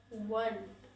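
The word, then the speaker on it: one: वन, वन, वन, वन, यहाँ पे आ रहा कॉन्सोनेंट साउंड, तो यहाँ पे हो जाएगा ए, ठीक है।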